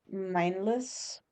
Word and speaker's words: Meinlys: Gustal Mindless Hugh. Mindless is spelled Meinlys.